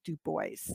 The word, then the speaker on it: Du Bois: looking back at the data visualizations of web dubois and that is actually how it's pronounced du bois um and du bois um it was is